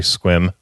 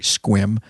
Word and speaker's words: Sequim: said it's almost a second you're just gonna spell it out yeah I'm totally so sorry squim yes sorry squim all right so new before we get into